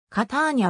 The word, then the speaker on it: Catania: 2 番目に大きな都市であるカターニャはカターニャもしくは方にアと発音される日本語文献では